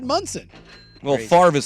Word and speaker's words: Monson: And I thought his name was Monson. well, it's spelled Monson, MON, but he said Munson.